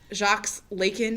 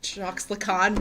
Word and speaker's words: Jacques Lacan: fficult it's Foucault it's it's not jocks lakyn it's jacques lacan right so it's not